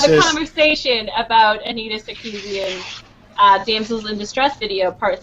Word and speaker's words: Sarkeesian: We're going to start off with our Anita Sarkeesian? Sarkeesian. Yeah, I think that's what- Sarkeesian. Sarkeesian. Oh, so I did say it right.